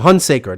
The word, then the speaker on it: Hunsaker: hunsacker i'm sorry i think i butchered your last name i know he's from colorado okay what was it say girl hunsaker that's what it is hunsaker sorry don't be an